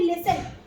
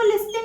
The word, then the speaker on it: listen: सुनने की इंग्लिश क्या होती है, लिसन, LISTEN। इसको लिस्टन नहीं बोलेंगे क्योंकि इसमें टी साइलेंट होता है।